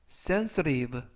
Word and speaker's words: sensitive: 그것은 초급 영어 강좌이다라는 뜻이 되겠습니다 2번 표현은 sensitive stive stive 하면 되겠고요 이때 알파벳가 부드럽게 트가 아니라 르 그래서 senstive라고 발음하시면 되겠습니다 품사는 형용사 뜻은 예민한 또는 민감한이라는